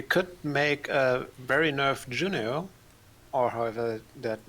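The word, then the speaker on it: Juneau: You could make a Berry Nerf Juno or however that name is pronounced.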